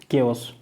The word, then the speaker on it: chaos: तो केओस का जो स्पेलिंग होता है वो होता है, यहाँ पे देख सकते हो CHAOS, ठीक है, केओस।